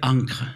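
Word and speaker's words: ENCCRE: Et ça s'appelle Encre, ça s'écrit E-N-2-C-R-E, c'est l'édition numérique, critique et collaborative de l'encyclopédie. C'est d'ores et déjà en ligne, il faut taper Encre et Académie des sciences, c'est hébergé par l'Académie des sciences.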